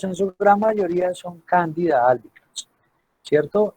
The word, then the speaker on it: Candida albicans: Y dentro de las cándidas, la más popular es la Candida albicans, así se pronuncia, Candida albicans.